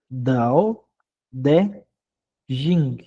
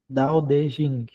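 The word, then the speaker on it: 道德經: A pronúncia mesmo chinesa. Então seria, olha lá, ó, Dao de Dao de Jing. Dao de Jing, que significa o caminho, virtude, tratado, ou livro, né?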